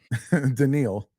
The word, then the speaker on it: Daniil: you So gotta say it like Mr. Garvey from the Key and Peele skits. Daniil.